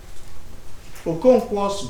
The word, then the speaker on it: Okonkwo: Okonkwo, English people say it's 2 syllables. Oko Nkwo. Oko Nkwo means somebody born on a market day.